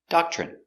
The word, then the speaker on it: doctrine: are a Doctrine pronunciation Doctrine d d a DA C doc ch doch remember when you have TR together it makes the chicken sound CH so again doc CH